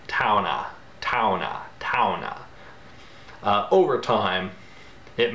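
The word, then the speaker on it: towne: which is spelled T-O-W-N-E, you have to keep pronouncing that E, and it becomes a sort of ah sound. Towna, towna, towna.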